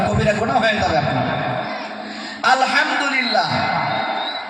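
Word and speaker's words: الحمد لله: আলহামদুলিল্লাহ, এখানে বড় হা আলহামদু হামদান, আলহামদু মাসদার মানে হলো প্রশংসা।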